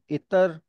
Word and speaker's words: इत्र: इसको distorted language में अतर भी लोग बोलते हैं। तो इत्र, इतर और अतर तीनों ही यूज होते हैं मेनली। जो करेक्ट प्रोनाउंसिएशन है वो इत्र है, और वो अरबी का वर्ड।